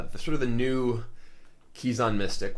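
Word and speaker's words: Kezan: Uh the sort of the new Kizison Mystic, which I know everyone always pronounces as Kzon mystic, but I'm just going to keep pronouncing it Kizison in part because it tells people, but also that's just how I always naturally pronounced it.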